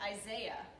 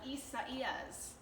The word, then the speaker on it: Isaias: Yeah, it looks like Isaiah, right? But it's Isaiah? no. Try again. I don't know. It's I really don't hard. know. It's Isaias. Isaias.